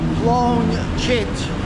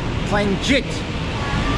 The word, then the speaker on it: Phloen Chit: at the plit BTS it's spelled plone chit but that's not the way you say it so don't tell a taxi chit you got to tell them play chit that'll work that's the building we're going